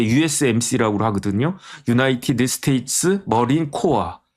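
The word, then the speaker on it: Corps: 유나이티드 스테이트 머린 코아 CORP를 코아라고 읽지 콜스라고 읽지 않거든요.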